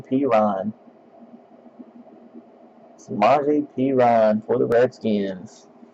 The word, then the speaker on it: Perine: They actually do pronounce his last name Perine.